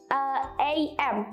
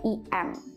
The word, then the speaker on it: AM: Jangan bilang IM. You can say AM, not EM.